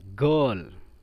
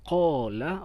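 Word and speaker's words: قال: ini diganti menjadi a kalau tadi qola berkata dalamlah yang dibaca a menjadi ala misalnya jadi a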